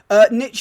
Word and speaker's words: niche: oh no invalid no niche is an alternative pronunciation i think basically that's what people some people say in the uk but uh i always say niche but i've definitely heard it niche before that's that's not particularly